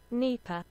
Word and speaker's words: Dnepr: to say it uh apparently this is how you say it nipper okay neighbor and uh for my friends across the pond nipa nipa there you go and uh looks like